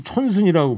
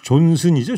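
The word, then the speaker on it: Johnson: 조금 전에 저 정상근 기자가 보리스 촌순이라고 발음했어요. 총리. 8할 네. 하나님께서 보리스 존슨이죠, 존슨. 네, 네, 아마 존슨입니다. 존슨. 촌순이 아니고.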